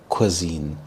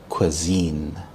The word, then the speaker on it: cuisine: This word cuisine is pronounced as cuisine. Soq as in quick, i as in it, and zen rhymes with scene. Scene zen. So cuisine.